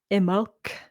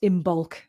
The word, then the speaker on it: Imbolc: So it's actually pronounced, or should be pronounced, Imolc or Imolg, but normally we just pronounce Imbolc at the moment. But it's Imolc without the B sound, if you want to be proper.